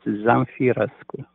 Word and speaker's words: Zamfirescu: And the correct pronunciation is Zamfirescu.